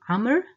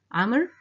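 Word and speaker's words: عمرو: The other is the name Amr, Amr. So Amr has a waw at the end of it, which is not pronounced, and that was mainly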